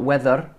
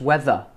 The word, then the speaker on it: weather: Don't roll your r's at the end of the ra. Don't add a r. We're not going r like Americans, like r. We don't go r. We just go weather. Weather. We don't pronounce the r's at the end of a word in Britain.